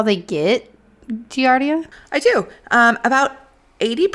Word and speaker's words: Giardia: she turns out she had Guardia I think is how you pronounce it let me double check enlighten me on that Giardia Giardia okay so she had